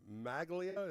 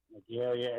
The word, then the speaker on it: Magalia: I appreciate it all the way from Maglia. Is that how am I saying it correctly? Magalia. It's outside of Paradise.